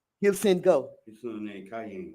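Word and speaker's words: Kiyan: His son named Cayenne. Oh, Cayenne, right. Like cayenne pepper. Okay. But it's spelled K-I-Y-A-N.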